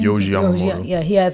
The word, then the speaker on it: Yohji Yamamoto: Yohji Yamamoto.